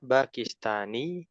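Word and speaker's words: باكستاني: Hal anta bakistani. Hal anta bakistani. Naam. Ana bakistani. Naam. Naam. Ana baki. Heeh. Bakistani itu ya ada ya bertasdid di situ ya. Jadi kalau ya bertasdid itu pelafalannya ditekan.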